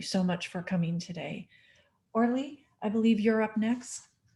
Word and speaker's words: Orly: Orly, I believe you're up next. Thank you everyone for having us here. It is pronounced.